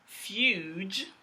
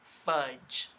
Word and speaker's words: fudge: This D is letting you know that this is a short vowel sound. It's closing off that syllable. It's letting you know that the word is not fuge. It's a short vowel sound, so they stuck a D in there. It's like a placeholder. And the word is fudge.